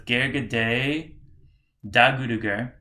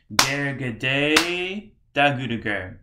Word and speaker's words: Ghergedhe Dagurugur: So it's Ghergedhe Dagurugur, two spaces there. Ghergedhe, Ghergedhe, and then the Dagurugur is on the offbeat of the second mantra there. Ghergedhe Dagurugur, Ghergedhe Dagurugur, Ghergedhe Dagurugur, Ghergedhe Dagurugur, Ghergedhe Dagurugur.